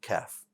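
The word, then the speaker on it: كاف: to stay flat and the letter cap is pretty close to this english word right i don't like to use english to help you uh pronounce arabic words but sometimes we get some words that are close so calf right like a baby cow is pretty close to the uh pronunciation of kaf it's also what a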